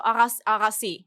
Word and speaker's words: Agassi: So Agassi, that's the Armenian way Yeah. of pronouncing Yeah.